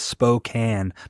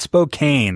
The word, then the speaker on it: Spokane: also also guys I want to say the pronunciation of our city is Spokan not Spokane I hate when people say that Spokane Washington